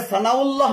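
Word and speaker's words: ثناء الله: আশফুল্লাহ সিদ্দিকুল্লাহ আশরাফুল্লাহ আহসানুল্লাহ তবে সানাউল্লাহ ঠিক আছে সানা শব্দের শেষে হামজা রয়েছে সানাউল্লাহ এটা ঠিক আছে 42 নম্বর দেখা যায়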